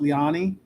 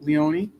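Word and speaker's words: Leoni: Um, I've heard it pronounced Lyani, but Leonei.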